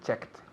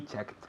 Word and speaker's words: checked: Aunque termina en ED, el sonido es una T.